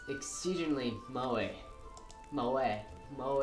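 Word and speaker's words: moe: Fenneman poses it's exceedingly mo e mo a mo e they're not a few people pronounce it mo a for some reason don't know why Natsuki grabs my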